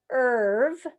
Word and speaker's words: serve: I would read this word serve, and the E does nothing.